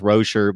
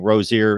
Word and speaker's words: Rosier: rosier and Rocher but i keep hearing that he's supposed to be pronounced Rocher but of course we've been saying Rozier ever since we knew about the kid that basically the